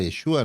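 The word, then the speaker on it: ישוע: Según el original se llama Yeshua. No se llama Jesús.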